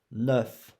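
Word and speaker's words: neuf: 9, 9. E, here. You don't pronounce U. You pronounce E.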